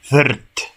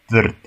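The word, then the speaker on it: vrt: Corta en Wirt, jardín. Wirt, jardín.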